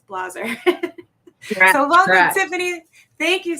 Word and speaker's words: Blaser: wanted to say Blazer but that's why I pronounce it it's Blazer so welcome Tiffany thank you so much for